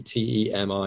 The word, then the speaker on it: temi: we bought a robot which is called temi t-e-m-i is pronounced temi artificial intelligence or ai